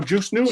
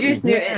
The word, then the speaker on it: Juice Newton: name it's like the how do you say it julus Newton something oh Juice Newton Juice Newton is juice oh okay it's juice yeah juice a juice